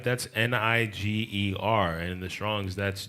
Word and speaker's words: Niger: That's Niger, and in the Strong's that's G3526. And Niger, one of the other pronounces is Neeg-ER. That sounds a little closer to nigger.